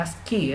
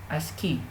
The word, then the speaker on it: ASCII: Ya, pronunciasinya ASCII ya, ASCII.